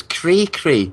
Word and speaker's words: cray-cray: The one I don't get is cray-cray. C-R-A-Y. And it means crazy, but without that time-consuming extra syllable.